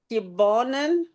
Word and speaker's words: Kibonen: Kibonen.